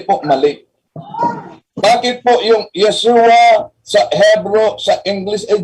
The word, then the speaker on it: Yeshua: Tandaan natin the first part of Yesua consist the letter yud followed by vowel serra unpronounced ye. How do you represent the sound in Greek? The letter Uta followed by letter eta and pronounced exactly as the same in Hebrew ye.